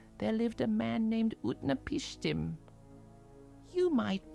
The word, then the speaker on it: Utnapishtim: In the city of Shurupak, there lived a man named Utna Pishtim. You might pronounce his name like this, Utna Pishtim.